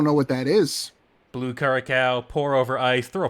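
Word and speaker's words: curaçao: Some folks like orange Caraco. I always include a little umbrella. Interesting. I believe it's pronounced curacao.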